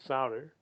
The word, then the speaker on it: Sauder: sauder am i pronouncing your name correctly yes sir you know